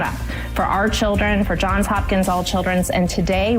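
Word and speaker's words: Johns Hopkins: We are out here at John Hopkins. See now I'm saying it wrong. John's Hopkins. It is a confusing name.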